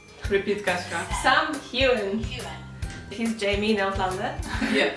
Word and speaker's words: Heughan: made to just answer the question how to pronounce this guy's name, and this is Sam Heughan. Repeat, Kaśka. Sam Heughan.